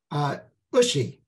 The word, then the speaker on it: Ushi: And another one of the stories that just captured my attention was the story of your grandmother, Edith's sister, Ushi, rhymes with Tushy.